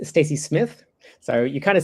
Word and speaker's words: Stacey Smith?: So, my name is Stacey Smith, and you do pronounce the question mark.